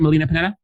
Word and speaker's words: Melina Panetta: Did I pronounce that right? Melina Panetta?